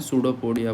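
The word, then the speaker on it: Pseudopodia: सूडोपोडिया बोलते हैं। याद रखेंगे। इस स्ट्रक्चर को बोलते हैं सूडोपोडिया। सूडो पोडिया डेफिनेशन यही है। सॉरी इसकी स्पेलिंग यही होती है। पीस में साइलेंट है।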